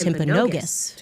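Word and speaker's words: Timpanogos: Um I'm told actually it's pronounced Temponogus.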